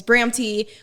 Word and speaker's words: Bramty: basically my name is bramti or known as a Bram fam but since my name is Bram T it's kind of like a play on word for Bram so my name is